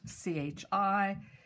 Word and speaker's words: chi: Remember, it's spelt C-H-I, but always pronounced chi.